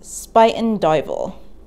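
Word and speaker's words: Spuyten Duyvil: spitting stream regardless of what it means it's pronounced spiten dival this nasty toxic canal in northwestern brooklyn and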